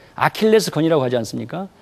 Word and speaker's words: 아킬레스: 최대 약점을 얘기할 때 아킬레스 건이라고 하지 않습니까 그때는 아킬레우스 로 가질 않죠 영어식으로 이제 발음을 하니까 아킬레스 건이다 이러니까 하는데요 저도 아킬레스건이 있죠 예